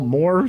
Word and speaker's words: Mohr: Maybe you want to spell more so that they know exactly what it is. MOHR. Not J Moore, but spelled like J Moore. Talking More Wrestling, MOHR.